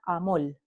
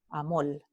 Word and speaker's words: amor: En Puerto Rico, la palabra amor se pronuncia amol, amol.